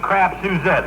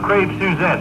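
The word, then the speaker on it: crêpe Suzette: but like last night we had crap suzettes for dinner i know it's pronounced crepe suzettes but i bit into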